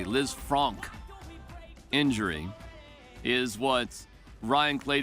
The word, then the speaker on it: Lisfranc: it right is it Liz Frank or is it Liz Fran oh Liz Fran well the the guy who termed the injury was French so you know it could